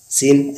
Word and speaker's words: scene: यहाँ पे सी साइलेंट होता है एस के तुरंत बाद। तो एस के तुरंत बाद हमारा सी साइलेंट होता है। जैसे एग्जांपल है सीन, साइंस। सीन SCENE, सीन का अर्थ